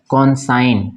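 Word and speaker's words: consign: उसी तरह आप यहाँ पे देखते हैं कॉन्साइन, इसको हम क्या पढ़ेंगे, कॉन्साइन, एन के पहले जी है तो जी साइलेंट, ठीक है ना, कॉन्साइन।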